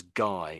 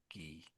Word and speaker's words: Guy: A French guy. So So in English that name looks like we say that as guy in English but the French say is G. Gee, just that first name there.